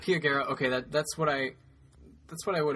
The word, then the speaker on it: Pia Guerra: Do you know how to pronounce the artist's name? It's Pia Guerra. Pia Guerra.